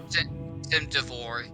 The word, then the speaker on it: Cimduvor: would be almost as if, how do you pronounce that guy's name? Cimduvor. Cimduvor can be assured, oh, I helped in defending Theron because I scared these guys off.